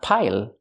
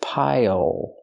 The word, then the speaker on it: pile: Pronunciation, not pile, but pile. Use the dark L at the end. It changes the vowel.